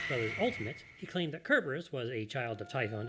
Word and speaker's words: Cerberus: Sound this is because when written in Greek it starts with the letter Kappa no not that one